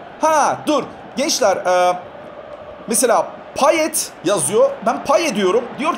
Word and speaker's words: Payet: Payet diye yazar, paye diye okunur.